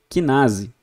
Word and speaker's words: quinase: Enzimas que terminam com alguma coisa sinases, que na verdade a gente pronuncia quinase, tá?